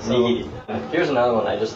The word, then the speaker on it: nigiri: No, it's nigiri. Right, so, nigiri.